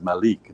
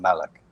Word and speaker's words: Malik: said you know but the proper way to pronounce my name is malik not malek so once he was